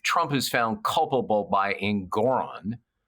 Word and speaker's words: Engoron: And on appeal, it'll eventually, whatever, if Trump is found culpable by Engoron, rhymes with moron, doesn't it?